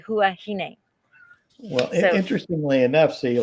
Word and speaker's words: Huahine: used to always say huwahini and that's right because the french don't pronounce as h but that the locals pronounce h and they say huahine well interestingly enough so